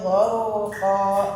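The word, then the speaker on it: غرقا: Wan nazi'ati gharqa. Ro-nya ya. Jangan kayak ghar enggak ada ya. Tahan jangan sampai turun. Gharqa.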